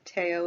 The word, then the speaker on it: Theo: vincent van gogh and his brother theo teo if you prefer that pronunciation and because it was